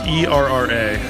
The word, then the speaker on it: Erra: So Era Well, I assume that's how it's pronounced. Yeah. Or is it Eras? No, it's ERRA.